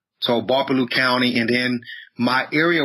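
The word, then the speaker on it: Gbarpolu: So my county is referred to as Barpolu, spelled with a G. The G is silent. G-B-A-R-P-O-L-U, Barpolu. So Barpolu County, and then my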